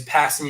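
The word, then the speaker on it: Kpassagnon: linguistic listeners out there that is passon with a silent k at the beginning of the world uh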